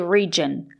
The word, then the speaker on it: region: We have to say region with a juice sound like in juice and jump.